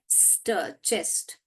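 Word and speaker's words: chest: आपको पढ़ना आएगा ओके देखिए च ए चेस्ट तो हमको च एस्ट चेस्ट अब बराबर ही सही लग रहा है मगर हम ये वाला भी हम पढ़ के देखेंगे जो कि एस एच है श एस्ट चेस्ट ये भी पढ़ के देखेंगे क एस्ट केस्ट तो ये दोनों दोनों सही नहीं है क्योंकि चेस्ट हमको मालूम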